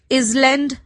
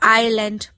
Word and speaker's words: island: Island, island, इसकी spelling होती है ISLAND, ISLAND, बट इसको इसलैंड नहीं बोलते, एस साइलेंट होता है, तो हम इसको आइलैंड पढ़ते हैं.